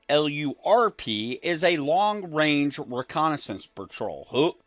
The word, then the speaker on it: LRRP: So, a LRRP unit, Lima Romeo Romeo Papa, pronounced LRRP, LURP, is a long-range reconnaissance patrol.